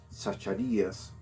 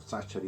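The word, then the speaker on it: Zacharias: antes de fallecer rabbie sacharías o sachari dependiendo como usted lo pronuncia antes de fallecer el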